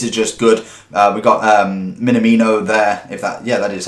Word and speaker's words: Minamino: We got Minamino there.